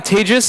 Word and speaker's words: Tejas: excellent my name is Teja that's pronounced like the second half of contagious it's a little mnemonic